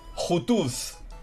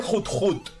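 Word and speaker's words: Johto: Jutuz. Entonces no se dice. Vale. Entonces se dice Jut Jut. Yo creo que Jutuz mola más. Realmente se pronuncia Jut Jut.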